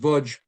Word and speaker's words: Łódź: They had spent most of their lives in Lodz, pronounced Łódź, Poland.